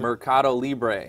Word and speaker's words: Mercadolibre: I'll let you pronounce it. Mercadolibre. Okay. Okay, so I'm going to test your Spanish skills here. Which aren't that good, I'll admit it. No, apparently you can't roll the R.